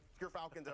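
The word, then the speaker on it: Gyrfalcon's: But Gerfalcons, everyone, so anyone who mispronounces it, that's how you say it.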